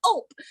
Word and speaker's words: ULP: by its acronym ULP, ULP, and they pronounced it like gulp.